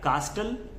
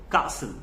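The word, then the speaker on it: castle: कि this is what क्या कास्टल कस्टल no this is कॉल्ड कासल कासल का मल मतलब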